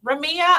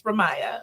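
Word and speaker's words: Ramiyah: my daughter she's Ramaya Ramia I'm like and please like I tell her she'll correct you like this it's Ramaya okay do you think it's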